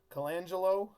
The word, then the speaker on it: Colangelo: people word on the street is a Bryan Colangelo that's how you say his name you know